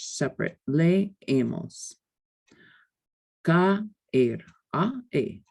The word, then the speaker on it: caer: What happens when you have strong vowels together is that they form their own syllables and they carry their own weight. They're pronounced totally and completely separately. Whereas we would combine the sounds in English, they're not combined in Spanish.